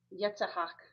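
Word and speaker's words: יצחק: Now, uh I had mentioned previously that Isaac Yetahak is how you would pronounce that in the Hebrew.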